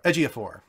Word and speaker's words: Ejiofor: like this choice a lot better Chiwetel Ejiofor Ejiofor yeah I think is how you say his